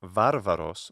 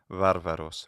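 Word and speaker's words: βάρβαρος: So not varvaros, modern pronunciation, and not barbaros, which would be a yet older pronunciation, but bilabial fricative, varvaros, varvaros is what I do.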